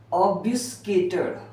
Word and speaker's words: obfuscated: अब उलझना एक नया वर्ड है जिसको मैं बता रहा हूँ, OBFUSCATED। इसका मतलब, इसको प्रोनाउंसिएशन करते हैं ऑबस, ऑबस भस, ऑबस या